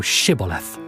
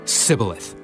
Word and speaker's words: Shibboleth: Then said they unto him, Say now Shibboleth. And he said, Sibboleth. For he could not frame to pronounce it right.